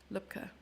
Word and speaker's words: Lübke: I keep mispronouncing the L-U-E-B. Lübke.